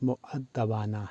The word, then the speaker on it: مؤدبانہ: کے ساتھ کے ہیں۔ تو اسے عام لوگ مؤدبانہ پڑھتے یا بولتے ہیں، جو درست نہیں۔ صحیح تلفظ مؤدبانہ ہے، جیسے مؤدبانہ گزارش، خدمت